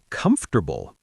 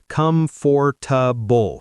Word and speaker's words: comfortable: Comfortable. People say comfortable. Four syllables, but native speakers usually say comfortable. Three syllables and it's fast.